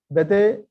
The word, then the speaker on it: Bethe: It says Alpha, Bethe, and Gamow. And that rhymes with alpha, beta, and gamma.